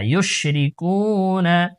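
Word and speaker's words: يُشْرِكُونَ: রি, calf wow পেশ কু, নুন জবর না, ইউশরিকুনা, ওয়াকফ করলে ইউশরিকুন, ইউশরিকুন, সুবহানাল্লাহি আম্মা ইউশরিকুন, সুবহানাল্লাহি,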